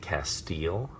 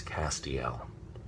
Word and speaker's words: Castiel: in and they will say how do you pronounce your character's name is it Castile and I will say no it is not Castile it's Castiel and that's very important um that on the